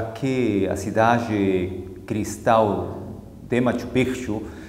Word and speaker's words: Machu Picchu: Eu sei que quando a gente lê, literalmente pronunciamos Machu Picchu, mas a expressão correta é Machu Picchu.